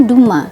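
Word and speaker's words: Dumas: Perancis nih ini bingungin ya Terus kenapa ini dibacanya Duma Apa karena ada m-nya kayak Albert kamu pakai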